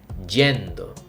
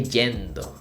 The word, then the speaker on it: yendo: regular conjugation Y and the pronunciation is a little stronger so we say gendo say I am going estoy gendo say in this case